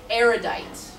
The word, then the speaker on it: erudite: So we pronounce it erudite.